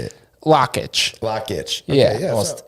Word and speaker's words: Lakich: Lakich.